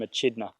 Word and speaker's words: echidna: I like to call them echidna because that's how it's spelt.